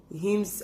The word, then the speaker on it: hymn: During the service, hymns are sung.